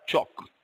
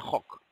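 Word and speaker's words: חק: Ahora esta palabra, estatutos, que tenemos aquí, esta palabra eh, la primera palabra viene de esta palabra chok o hok, se pronuncia hok.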